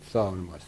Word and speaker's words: सावन मासो: संस्कृत का है जी लेकिन पाली का इसका उच्चारण होता है सावन मासो सावन मास तो यह